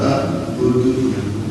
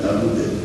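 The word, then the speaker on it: أَعْبُدُ: Dan saya dipanggilkan dari silakan ini wala antum a'biduna ma a'budu. Jadi bukan ta'budu. A'budu. A'bud. Qalqalah. A'budu. Ini kan budu juga bacanya. Saya ulang zamannya. A'budu. Itu tetap qalqalah, dimatikan, diwakafkan. Jadi saya kan ngeyel juga kan.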